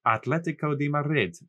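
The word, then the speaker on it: Atlético de Madrid: Atletico de Madrid. You have to say it Spanish and roll your R's.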